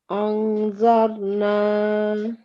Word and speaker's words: أنظرنا: Okay, so we haven't covered this rule yet, but the correct way to say this word is أنظرنا. Anzarna.